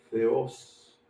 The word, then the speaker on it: Zeus: Y que la u griega se pronuncia como una o abierto, como u, como se pronuncia la o en francés.